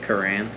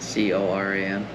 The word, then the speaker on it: Coran: Coran. How you spell that? Coran. C-O-R-A-N, just like it sounds.